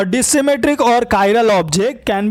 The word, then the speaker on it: chiral: Pronounce as कायरल Greek word meaning hand.